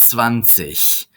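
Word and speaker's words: zwanzig: this one see but vanish notice the G at the end of a word C is pronounced like that CH angry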